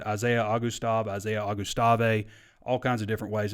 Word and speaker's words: Augustave: So the way to think about this is Augusta National and add a V. Isaiah Augustave.